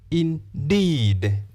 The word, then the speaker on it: indeed: This word, indeed. The first syllable has the short vowel sound e. The second syllable has the long vowel sound E.